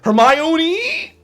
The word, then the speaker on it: Hermione: As if I am the go-to guy on how to pronounce names, okay? Hermione?